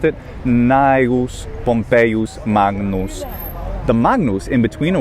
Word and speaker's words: Magnus: But in the middle of words, like in Magnus, it is pronounced. And here's where we wonder, like, should it actually have a velar nasal sound? Should it be Magnus, like king or sing plus a na?